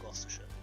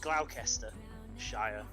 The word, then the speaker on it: Gloucestershire: it it would say gloucester shire but we pronounce it gloucestershire just like worcestershire what's this your song